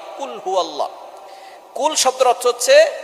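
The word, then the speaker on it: قُلْ هُوَ: আল্লাহ পাক রাব্বুল আলামীন এখানে বলছেন কুলহু আল্লাহু আহাদ। এখানে কফ দিয়ে পড়ছেন কিন্তু অনেকেই ভুল করে উচ্চারণ সঠিক না হওয়ার কারণে তারা পড়ে কাফ। কুলহু আল্লাহ।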